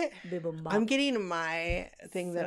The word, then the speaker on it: bibimbap: I love that bibble bop. Is that how you say it? Bibimbap.